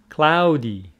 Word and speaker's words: cloud: repeat rainy dry warm cloudy ow for this word you need to open your mouth like house mouse here it is cloud out cloud cloudy cold